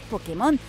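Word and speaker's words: Pokémon: intentando cazar un mágica asegúrate de que nadie te escuché pronunciar pokemon se van a reír igual que nosotros nos reiríamos escuchásemos pokemon que es como lo pronuncian pero esta vez no os voy a aconsejar seguirles la corriente y es que pokemon tiene tilde en like perderéis unos cuantos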